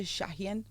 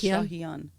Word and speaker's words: Shahian: right I wasn't talk in America they say shahan but it's shahan oh it is okay